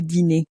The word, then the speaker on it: dîner: Again, make sure to pronounce the dinner as. Le dîner.